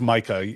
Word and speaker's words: Mika: editor, Mika Scotty Cole, and it's Micah. Everybody she goes by Micah, and everybody else knows that that's how you pronounce that name apparently. But I always thought it was Mika, so when I read